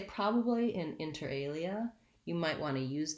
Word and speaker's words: inter alia: is um inter alia inter alia it has stress on the second word alia that's the prime stress in the phrase enter enter has first